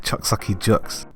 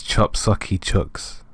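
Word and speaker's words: Chop Socky Chooks: You had Chucks Sakucky Chucks. So, I'm editing this video and I see that I completely butchered that name. It's Chop Saki Chucks.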